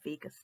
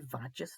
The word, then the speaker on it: vagus: message to me i thought it was the vagis nerve which would be a completely different type of video and probably something that i'm not going to go into but it is actually pronounced the vagus nerve and my friend had brought this up